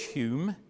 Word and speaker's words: Hume: Notice, by the way, that Hume, for the Scots, is spelt H-O-M-E. Hume changed his name to H-U-M-E. When he came down to Bristol in 1734, he was fed up with the English mispronouncing his name.